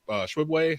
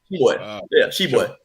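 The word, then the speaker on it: Oscar Tshiebwe: In Kentucky, the player of the year, Oscar Shibwe, how do you say his last name? Shibwe.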